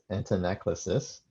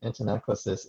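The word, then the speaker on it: antanaclasis: To introduce a related term, which is hard to pronounce, I think you're supposed to say this antinaclasis.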